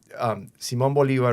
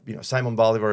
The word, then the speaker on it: Simón Bolívar: So Simón Bolívar, or Simon Bolivar, is it's pronounced in English.